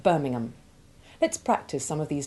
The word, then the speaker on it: Birmingham: the H usually becomes silent, and the A changes its sound from the short A1 of ham And the football team, West Ham. to the short A2 Ivy sound of Birmingham.